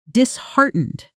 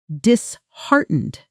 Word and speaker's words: disheartened: Disheartened. Notice the stress dishartened right in the middle connected to the word heart, which makes it easier to remember since it literally means your heart loses its courage.